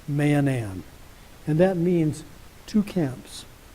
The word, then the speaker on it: Mahanaim: is the principle of manam now that's the proper name of a place that's spelled ma a h a n a i m Manan and that means two